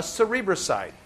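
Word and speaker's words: cerebroside: s i d e it sounds like cerebral like it's in your head and it is so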